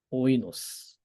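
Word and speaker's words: οἶνος: 하지만 발음은 오이라는 거예요. 오이. 오이노스. 오이노스.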